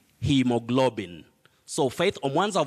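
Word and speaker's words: haemoglobin: girls school you say hemoglobin hemoglobin in that word a and e also combine to form or they represent the long vowel sound e hemoglobin so faith on ones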